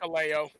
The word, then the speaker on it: Hikuleo: Hikuleo, however you pronounce it. Yeah. It's Hikuleo.